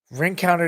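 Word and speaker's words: Rencountre: country or him Conte I don't know how to say you know he's French last name but he pronounces it Frank counter so ring counter didn't take enough chances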